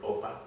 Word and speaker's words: Opka: And today I have the pleasure of interviewing Dallas Mayoral candidate Edward Opka. And he told me the K is silent, so everyone should remember that.